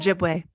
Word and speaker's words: Ojibwe: and I don't know how to say this, Ojibwa, I believe it's something like that. Ojibwe. Yes. I heard it. I looked up like how to pronounce it online, but I don't remember.